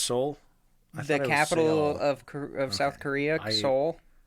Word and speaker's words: Seoul: It's pronounced Seoul.